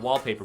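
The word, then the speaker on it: WLPPR: time it comes from an app called wallpaper but it's spelled weird it's WL PPR and it's just full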